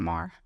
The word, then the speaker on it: Maher: Wait, Bill Maher. Maher. But he pronounces it Mar.